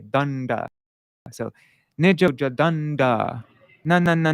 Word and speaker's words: daṇḍa: And so the long syllable, we elongate that when we pronounce it. We say danda.